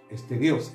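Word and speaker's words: στερεός: Pero en realidad debe pronunciarse en el idioma original griego estéreo, estereos. Esterios.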